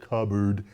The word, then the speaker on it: cupboard: It's that cup and board came together and created cupboard. That's interesting because it doesn't sound like cup, it doesn't sound like board, and it's not about cups and it's not a board.